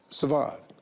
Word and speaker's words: Siobhan: It's actually Irish. Oh. So the SR is a sh, and it's barn. That, see, right there? See, now. You've been schooled. Being black, how would I know that? Siobhan, Yes.